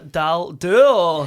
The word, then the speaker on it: Daldoul: And we have for the first time Wafa Daldoul.